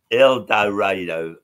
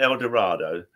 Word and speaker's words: El Dorado: last year, we played El Dorado, Arkansas. Now, that's not El Dorado. There's pictures up all over the theater saying it's pronounced El Dorado. So, you know, we all practice that.